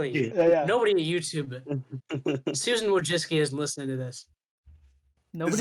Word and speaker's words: Wojcicki: Okay, it's Wojcicki. That's how you say it, yeah. I was just looked at it and panicked and would just say Wakjasaki and then just move on.